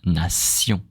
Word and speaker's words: nation: Okay, in French we don't say sh. We know the sound sh, like attention, nation. We say S. Okay, so nation, attention.